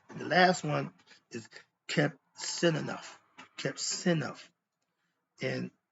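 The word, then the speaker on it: Qebehsenuef: And the last one is kept sin enough. Kept sin enough. And it's spelled Kebsenuf.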